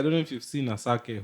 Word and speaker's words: Asake: know if you've seen asake who's a shark yeah that's how you pronounce it yeah like you can